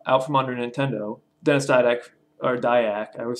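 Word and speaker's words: Dyack: they out uh out from under nintendo dennis tydek or dayak i would say his name didac die dude no dayak basically felt that they're free from nintendo and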